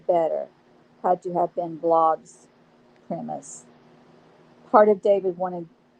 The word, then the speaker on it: Blod: The man produced Guy as G with a hard G, the French way, and blood to rhyme with cod, blod, G-blod, as if Scandinavian.